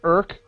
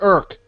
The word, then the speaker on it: IRC: internet Rel check how does that sound like irk okay uh there what client do you use do you use the URL client come on people it's irk just just like you don't pronounce you don't